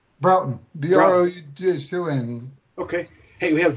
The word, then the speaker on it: Broughton: Broughton.